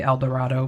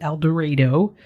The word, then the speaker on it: El Dorado: citizens of el dorado i want to say el dorado but apparently you pronounce it el dorado and surrounding towns of southern illinois now i